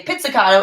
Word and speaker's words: pizzicato: then c-a-t-t-o so pizzicato you don't really say like pizza like the food but you say pizzicato is basically just plucking